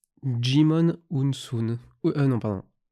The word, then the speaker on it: Djimon Hounsou: son prénom tu fais un effort quoi hutu prononce djimon hounsou d'une vidéo de cette source et non de